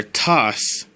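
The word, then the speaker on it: 足す: The plus sign in Japanese can either be pronounced plus, which is the English pronunciation with an accent, or tas.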